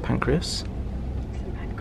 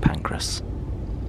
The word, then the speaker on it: Pancras: pancreas i know but i always say some pancreas i know i know but i've just got to stay true to myself just to accept that i can't pronounce the train station in london it's just pancreas pancreas kings cross saint pancras today liz and i